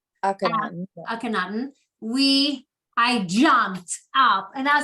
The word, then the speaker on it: Akhenaten: up at the Royal Museum when we saw Akhenaten. I say it wrong. Akhenaten.